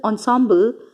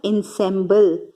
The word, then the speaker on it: ensemble: So in the past, the Shehnai was part of the Naubat or the traditional ensemble. So this is a French word. It is not ensemble. So it is pronounced as ensemble.